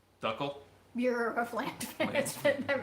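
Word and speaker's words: d'Uccle: How do you say them? Ducelese? Oh, Belgian Duckle.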